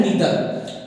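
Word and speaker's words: neither: इसको भी दोबारा एक बार सुन लेना कि नाइदर बोलते हैं, परंतु नाइदर अपने आप में शुद्ध प्रोनाउंसिएशन नहीं होता है, करेक्ट प्रोनाउंसिएशन नहीं होता है, इसका सही होता है नीदर।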